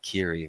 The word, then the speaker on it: Keighery: Real G's moveing silence he switched it from like lasagna to like Kiri which was I thought